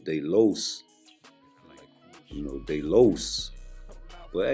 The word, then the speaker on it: los: I mention Edwin de los Santos I always say Los not LA because La is feminine and I know I've